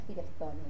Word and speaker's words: Firestone: Firestone es Firestone, como las gomas.